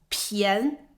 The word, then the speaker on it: 便: 好，我们来看这个字的第一个发音，便。